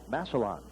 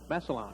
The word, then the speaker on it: Massillon: He's a senior right-hander, 5'11", 180 pounds, from, I guess it's pronounced Massillon, Ohio. Massillon. Massillon, okay. I was pronouncing like the butterfly, papillon, French style.